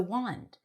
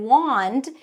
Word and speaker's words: wand: And then wand, even though it has an A, it's an ah sound. Wand, wand, wand.